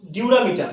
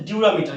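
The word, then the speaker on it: dura mater: রয়েছে একটা হচ্ছে ডিউরামি ডিউরামিটার কি নাম একটা স্তরের নাম প্রথম স্তরের নাম হচ্ছে ডিউরামিটার কি বললাম ডিউরা ডি ইউ আর এ ডিউরা মিটার ওকে তাহলে একটা স্তরের নাম হচ্ছে ডিউরামিটার একটা স্তরের নাম হচ্ছে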